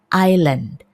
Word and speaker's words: island: Di sini S-nya adalah silent S. Artinya kita tidak mengucapkan S-nya. Kadang-kadang ada orang yang mengucapkannya island atau island gitu ya. Tapi yang betul adalah island.